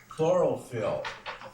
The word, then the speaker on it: chlorophyll: the way it's spelled the CH sounds like a k and the pH sounds like an F very important substance as